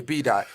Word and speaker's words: B Daht: going to just stay B dot. But I don't want to spell it D-O-T. I'm going to change the O to a A-H because that's the R sound.